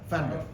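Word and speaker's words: Pfander: You Fander. pronounce it Fander, yeah. Fander. But it's the German. Carl, Carl Fander.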